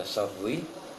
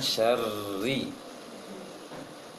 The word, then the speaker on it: شر: Masalah tebal tipis syarri, dan ini memang sering kebanyakan orang baca syarri karena yang tahu adalah ro itu tebal. Namun secara tajwid ro itu bisa kadang tebal, kadang tipis sesuai dengan syaratnya nanti. Sedangkan di soal falak yang tebal hanya bi saja, sedangkan ri tipis semuanya.